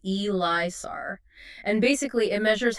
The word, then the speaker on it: ELISA: an inhibition elisar it's spelled Elisa but it's pronounced elisar and basically it measures how well the boiled